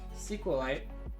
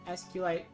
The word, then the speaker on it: SQLite: an SQLite database, and people keep telling me, they say, no, you pronounce it SQLite, but I don't. I don't like it. There's an S and there's a Q, so I pronounce SQLite. SQLite, but then other people will say SQLite, and it's up to them really.